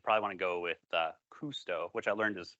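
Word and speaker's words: Kusto: You'd probably want to go with Cousteau, which I learned is pronounced Cousteau for Jacques Cousteau. I was calling it Custo up until 12 when I did some research on the spelling.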